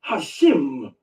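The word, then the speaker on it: Hashem: name has been buried and hidden and the pronunciation has been lost. They don't even use Yahweh. They use the name Hashim. H A S H E M. Hashim in Hebrew, it simply means the name.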